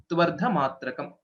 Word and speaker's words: त्वर्धमात्रकम्: When we join this, व्यञ्जनं त्वर्धमात्रकम्. Tvardha, tu plus ardha, tvardhamatrakam.